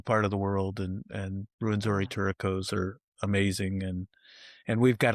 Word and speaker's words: Rwenzori Turacos: Well, anything else on the Rwenzori Turacos?